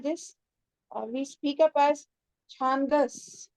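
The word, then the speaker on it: छन्दस्: It's not Chandas. It's Chandas. It's Chandas.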